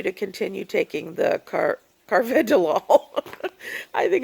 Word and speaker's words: carvedilol: I was taking now I'm taking carva Dil Carvedilol sorry anyway Carvedilol I think is how you say it um